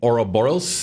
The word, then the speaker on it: Ouroboros: Yeah, and you've got 3 dragons on her, and it looks like a dragon Ouroboros.